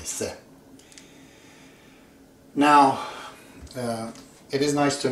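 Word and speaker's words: ث: Arab, they say fa, almost like English think, I think. They say, I think, tha. Tha is this. But Persians simply say se. They don't pronounce it any other way, se.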